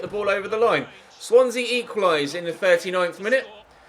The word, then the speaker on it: Swansea: around the post for corner superb defending from swansea swansea yep Swansea that's how you pronounce it super flexy both defending for Swansea